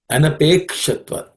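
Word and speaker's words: अनपेक्षत्व: The only one which I would point to pay attention is anapekshatva, ksha, that is cerebral ksha.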